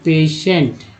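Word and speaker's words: patient: से होता है ना, तो टी आई का उच्चारण क्या होता है? टी आई का उच्चारण दोस्तों होता है स।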